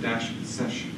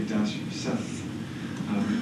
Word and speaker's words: sess: So every time you see a -sess, that's always an fsfast command, and I pronounce it -sesh. Some people say -sess.